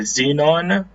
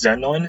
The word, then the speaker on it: xenon: of the word because X in front of a word will make a Z sound. E with a macro makes the E sound.